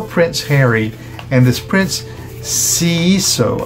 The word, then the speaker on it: Seeiso: Now for Prince Harry, and this Prince Seeiso, I suppose that's how that's pronounced, S-E-E-I-S-O, regarding the South African orphans of Lesotho and Botswana.